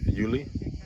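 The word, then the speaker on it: Iulius: So you're saying whether it's Julius or Yuli? Julie, like Julie, actually. You okay? So you gotta pronounce everything.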